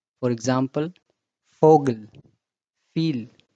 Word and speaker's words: Vogel: But when it comes in word, it sounds as F. For example, Vogel, Viel, Vater.